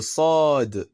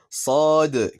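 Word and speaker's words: صاد: Mais c'est plus sur le sad qu'il va falloir s'appliquer. Cette lettre est souvent mal prononcée et ressemble plus à un sin un peu grave.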